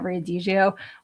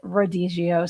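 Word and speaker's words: rodízio: I kept calling it Riadio, which is a Brazilian steakhouse that I went to. And actually, I found out that that's actually Rodigio. So, I was mispronouncing that, too.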